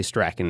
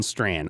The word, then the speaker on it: Strachan: And I came across this clip of I always want to say Strachan. It's not Strachan. Owen Strachan, I believe is how you properly pronounce it.